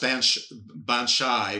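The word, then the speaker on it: baobhan sith: It's spelled Baobha, maybe In, and then Sith is the second word. The way you think of Sith, the bad Jedis. But basically it's pronounced Banshai, which is a banshee.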